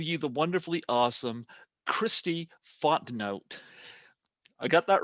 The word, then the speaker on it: Fontenot: Folks, I give you the wonderfully awesome Kristi Fontenot. I got that right. Fontenot. Fontenot.